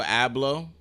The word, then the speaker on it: Abloh: do you say his last name hablo virgil ablo um fashion pioneer right fashion pioneer for off